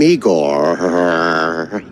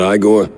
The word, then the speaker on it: Igor: I'm Igor. Igor, not I gor? No, Igor.